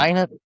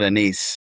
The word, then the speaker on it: anise: The Yeah, anise scent? I call it a niece. Anise. There you go.